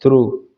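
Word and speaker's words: through: इसी तरह जी एच, जी एच इकट्ठे होने पर जी के बाद आपको कहीं भी किसी वर्ड में एच लगा मिले तो ये दोनों साइलेंट हो जाते हैं, इनकी कोई आवाज नहीं आती, जैसे high, H आई जी H, high.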